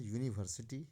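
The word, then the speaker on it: university: तो यूवेल जरूर है लेकिन इस वर्ड में जो यूनिवर्सिटी का प्रोशन हो रहा है वह है यूनिवर्सिटी यानी य उच्चारण हो रहा है ना कि अ का अगर अ उच्चारण आता तो निसंदेह इसमें एन का प्रयोग कर दिया जाता लेकिन इसमें यूनिवर्सिटी में य उचार हो रहा है जैसे यूनिवर्सिटी हो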